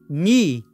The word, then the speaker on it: knee: primeira parte é que essa palavra ni ela tem esse k mas ele não é pronunciado então não é k ni e sim ni certo And proposed and